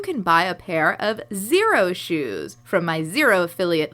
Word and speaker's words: Xero: Xero is spelled with an X.